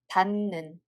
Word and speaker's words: 닿는: So 히읗 받침 changes its sound to nu, and we read it as 닿는, 닿는.